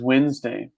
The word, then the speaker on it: Wednesday: pronounce. Wednesday. Okay, I know. I know this from my time in India because in India they don't know how to say this word also. This word Yes. is Wednesday.